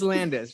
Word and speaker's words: Landes: got to ask you, is it Lanfes or Landis? Because I'm sure you know that on the front of your book, your name is spelled Lanfes, and on the back, it's spelled Landes. Were you even aware of this? I did know that. I'll probably have to change that. So it is Landis, just so everybody knows.